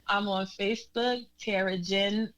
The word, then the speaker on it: Djinn: I'm on Facebook, Tara Djinn. The D is silent, so it's TARADJINN.